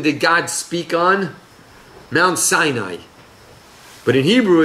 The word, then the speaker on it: Sinai: Mount Sinai. But in Hebrew it's pronounced Sinai. It's the same root in pronunciation as Sinah.